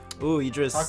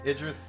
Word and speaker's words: Idris: and the voice actor who played as him Idis talk about a match made in heaven for me he's a cutie too Idris uh El there you go yeah I pronounced